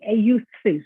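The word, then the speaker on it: εὐθύς: Euthus is what you pronounce it in Greek.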